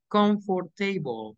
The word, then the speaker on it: comfortable: So we say conf, no O, no R.